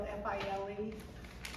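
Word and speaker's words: filé: It's spelled f i l e. So and it but you say file and I forgot to get some while I was there.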